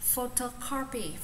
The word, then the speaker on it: photocopy: Đấy photocopy photocopy photocopy copy. Đấy photocopy mình sẽ viết phiên âm là pho, trọng âm số 1 pho cho photocopy copy copy đúng không?